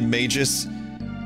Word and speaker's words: Magus: I call him Maggus because it it makes me think of maggots, right? And and I just been pronouncing it maggus since I was a kid. Some people say magis. I ain't about that.